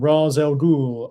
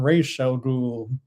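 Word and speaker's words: Ra's al Ghul: to pronounce him because for whatever reason we have never had like a strong number one sort of pronunciation of his name. It's always flipped between I am Razel Ghoul, I am Rel Ghoul or I'm just the demon's head, you know.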